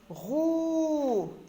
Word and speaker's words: roux: Roux, X, lettre muette.